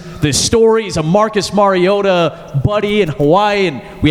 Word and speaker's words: Mariota: how history and kindness work with that enunciation Mariota and that is smokes how you pronounce his name here and I'm like no